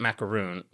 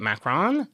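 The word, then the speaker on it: macaron: Macron, not macaroon. How do you say it? Macarron. Yes. Is that right?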